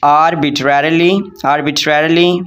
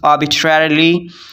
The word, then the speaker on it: arbitrarily: हम कहेंगे पाकिस्तान में arbitrarily, but I'm going to pronounce arbitrarily इसका मतलब मनमानी तौर पर अपनी मर्ज़ी से करना, ठीक है।